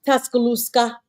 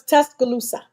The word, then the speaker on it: Tuscaloosa: So come on now, Tuscaloosa. Oh. Okay. Tuscaloosa. Okay. But how you say it? That was the country version of it, Tuscaloosa. It is not a "k" in there.